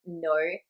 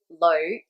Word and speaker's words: 女: The formal correct pronunciation of no has the N sound. However, when you're talking to people day to day, you're more likely to hear them say lo.